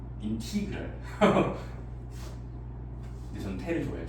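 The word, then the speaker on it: integral: 이게 영어로 영어권에서는 인테그랄. 근데 인티그랄이라고 읽어야 하는 게 맞대요. 인티그랄.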